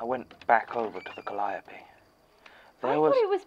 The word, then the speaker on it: calliope: So, do we know if it's pronounced calliope or calliope? I have also heard it said as calliope. Seriously? By who? Americans. Ah. As far as I can tell, there isn't a correct pronunciation, but they were originally named after the Greek muse Calliope, so...